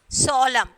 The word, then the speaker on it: solemn: N is silent. Solemn, that one we already seen that.